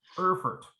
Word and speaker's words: Erfurt: Erfurt, E-R-F-U-R-T, Erfurt. I don't speak enough German to know exactly how that's pronounced. I think it's Erfurt.